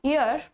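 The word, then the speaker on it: heir: Prince Charles is अ यर इसको हम क्या प्रोनाउंस करते हैं यर ठीक है प्रिंस चार्ल्स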